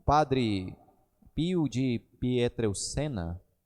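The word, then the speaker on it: Pietrelcina: o Padre Pio de pietral Sena é que é assim que se pronuncia o nome dele disse que Bendita é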